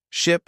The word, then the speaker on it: ship: Ship has a short I sound, while sheep has a long E sound.